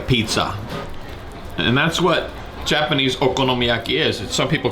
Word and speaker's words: Okonomiyaki: moving on to the Okonomiyaki. 6 syllables. Okonomiyaki. 6.